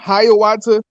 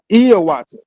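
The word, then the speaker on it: Hiawatha: So, if you ever heard of a man named Hayawata, it's actually pronounced Iawata, right?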